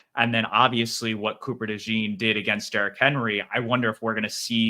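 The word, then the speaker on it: DeJean: interesting because we saw Cooper Dee or Cooper dejon I I don't know do you know what pronunciation he goes by like the French uh pronunciation or more American I I do think it's Dee um that's what I saw when I was doing his college stuff but I I couldn't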